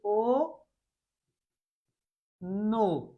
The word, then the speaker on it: অন্য: এরপরে অন্য। অন্য বানানটা কেমন? নয়জ ফলা। কিন্তু উচ্চারণ হচ্ছে ও নো।